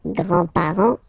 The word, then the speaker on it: grands-parents: the grandparents, les grands-parents, remember you don't pronounce this final S here, grands-parents, okay, so le grand-père, grandfather, le grand-père, remember, E accent grave like that.